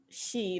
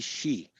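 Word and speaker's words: Xi: it's so how do we how do we pronounce it through the english phonetic she like s he she see she yeah so the world's most powerful leader bar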